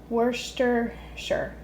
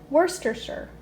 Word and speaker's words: Worcestershire: I'm going to try worcestershire were I think that's right no worster sure worster worster sure maybe okay.